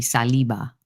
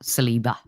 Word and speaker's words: Saliba: It's like when Matt Spyro taught me how to say Saliba, not Saliba.